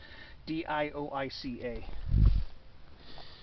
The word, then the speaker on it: dioica: right there another mamilaria dioica d-i-o-i-c-a i usually pronounce the eyes as ease or is some people